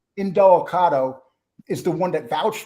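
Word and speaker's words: Indelicato: how do you say his last name again angelicado in Delicato is the one that vouched for him and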